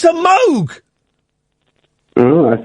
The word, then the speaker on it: Moog: There's a a synthesizer called the Moog. I'm familiar. Yeah. Yeah, it's not. It's called the Moog. Yeah, I know. It's pronounced Moog.